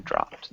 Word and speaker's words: dropped: dropped can you repeat dropped yeah so that ed ending is just it ends up sounding like a t so dropped that sounded perfect the